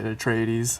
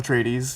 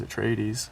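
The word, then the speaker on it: Atreides: Paul tradies here and you actually had the correct pronunciation there when you say at trades I remember that from the pamphlet we got when we started the first one and U did you say it a different way first well people say Paul trades you know but in the you know in the Frank Herbert pronunciation it is a traes how you said it um and uh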